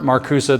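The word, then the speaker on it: Marcuse: the 1960s in particular Herbert marusa that's you would you would spell it maruse m a r c e if you're taking notes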